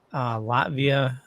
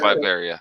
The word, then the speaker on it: Latveria: I just want to say, I, not being a avid Marvel reader, learning that Latvia adores Doom. Oh yeah. Is it? I thought it's Latveria. Is it Latveria? Yeah, it's Latveria.